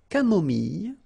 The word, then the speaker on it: camomille: So remember when we get this E and then double L, it goes like ye, ye. Mille, mille. Camomille.